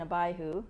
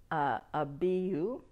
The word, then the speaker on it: Abihu: When Aaron's sons, we know them as Nadab and Abihu. That's not the way that the Hebrews pronounce it. It's Nadab and Abihu.